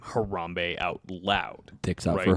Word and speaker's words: Harambe: pod but all right she pronounced harambe as harembe harembe yes but like it's